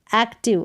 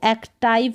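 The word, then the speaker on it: active: कर्सिव, एक्टिव, अब इसको एक्टाइव करके नहीं पढ़ेंगे।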